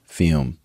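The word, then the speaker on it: Fūm: the tembo shark show fume pronounced fume fume took a look at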